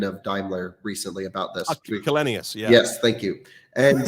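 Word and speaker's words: Källenius: Yeah, so I spoke to Ola, I can't pronounce his last name, the chairman of Daimler recently about this. Kalenius, yeah.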